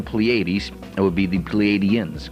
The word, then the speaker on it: Pleiadians: It would be the Pleiadians, correct?